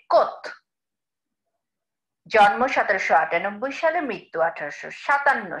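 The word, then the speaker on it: Comte: আর সিও এম টি ই মনে হয় যেন কম্পট, কিন্তু এটার উচ্চারণটা হবে কোত।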